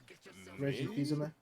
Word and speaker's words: Reggie Fils-Aimé: Reggie Fils-Aimé? Is that how you pronounce it?